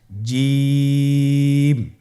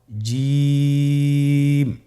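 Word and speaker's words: ج: আপনারা আমার সাথে করুন জিম মাশআাল্লাহ আবার বলুন জিম আপনারা চেষ্টা করুন হয়ে যাবে এর মাখরাজ হলো জিহ্বার মধ্যখান তার বরাবর উপরের তালুর সঙ্গে লাগিয়ে উচ্চারিত হয় আপনারা পিকচারে ছবিতে দেখতে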